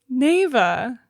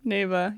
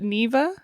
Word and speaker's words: Neva: hello welcome to the podcast today we're covering Nava correct NAA mhm Nava yes I think we pronounced it Nea uh last episode but we've decided that it's